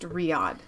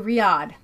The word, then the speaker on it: Riyadh: in five years sir yeah will says it's pronounced Riyadh thank you Riyadh got it as the cloth inch to midnight